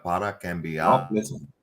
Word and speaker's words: cambiar: Cambiar. Para cambiar. No, listen. The vowel is important. Sí. It's not cambiar. It's cambiar.